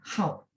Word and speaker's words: 好: Ternyata dia punya cara baca lagi nada 4 ya, hao. Teman-teman satu kosakata ya, kebetulan keingat.